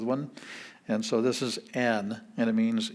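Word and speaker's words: ἐν: words like this but we have n with a epsilon and a smooth breathing so it's just pronounced n and it means n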